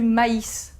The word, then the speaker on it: maïs: Il indique qu'on doit prononcer cette voyelle de manière séparée. Par exemple, on va dire du maïs.